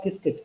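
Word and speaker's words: Qiskit: It's called Kiskit. That's how they pronounce it.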